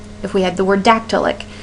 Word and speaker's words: dactylic: If we had the word dactylic. Dactylic is how that would sound or be represented with the syllable stresses. A stressed syllable followed by 2 light syllables.